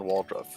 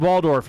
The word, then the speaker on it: Waldorf: Are you familiar with uh Stalter and Waldruff? It's Statatler and Waldorf. You just butchered that.